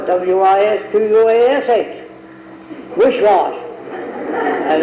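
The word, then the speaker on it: Wisquash: he says, you don't spell Wicwas, W-I-C-W-A-S, you spell it W-I-S-Q-U-A-S-H, wishwash.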